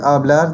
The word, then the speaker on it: hablar: So what happens is, words ending in a consonant in Spanish are stressed on the final syllable. So in the word hablar, the stress is going to be on the last syllable.